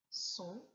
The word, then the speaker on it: sont: Les deux mots qu'il fallait trouver sont son, S-O-N-T, et son, S-O-N.